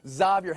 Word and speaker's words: Xavier: Xavier Henry is how he pronounces his name, Mariotti.